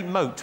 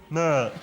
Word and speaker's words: moat: I don't know if you can say moat properly. I'm guessing that you're trying to say moat, but you're saying mert. Like a goldfish that's got learning difficulties.